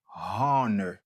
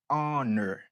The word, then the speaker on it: honor: le H est muet the H is silent donc a prononcer mot juge là en anglais ou pas dit your honor dit honor honor ou bien si